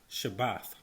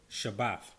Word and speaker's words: shabbat: the word sabbath comes from this hebrew word pronounced shabbat shabbat sabbath is actually a transliteration of the word